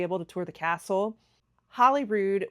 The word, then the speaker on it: Holyrood: Holyrood, which some of you guys have been telling me I was pronouncing it right all along, Holyrood.